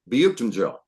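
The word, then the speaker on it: Büyüktuncel: It's Buchtenjel. Berke Buchtenjel. Our new guy, yeah. You were going to ask how to pronounce his name.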